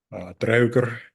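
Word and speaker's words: draugr: In Old Norse context, this would be a draugur, particularly while it's in the mound. Now I'm using Old Norse pronunciation.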